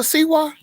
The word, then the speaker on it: Siwa: I didn't know what a JoJo Siwa was.